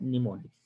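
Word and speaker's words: mnemonics: word known as निमोनिक्स इट is pronounce S निमोनिक्स देखि वो कहते है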